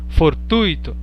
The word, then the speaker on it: fortuito: A gente costuma falar gratuito, circuito, fortuito, intuito, mas não é assim, porque elas são paroxítonas. Então a pronúncia correta é gratuito, circuito, fortuito, intuito.